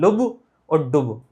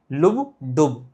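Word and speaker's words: lub dub: लेकिन असली प्रोनाउंसिएशन इसका होता है लुब और डुब, लुब डुब, लुब डुब। लब डब बोलते हैं, लब डब है नहीं, लेकिन लुब डुब है, ठीक है।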